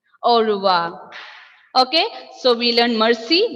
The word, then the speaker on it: au revoir: We are not pronouncing this R here. Instead, Malayalam alphabet, Malayalam letter Ra. Ra sound. Ra sound. Au revoir. Au revoir means goodbye. And the ending letter R will be also silent.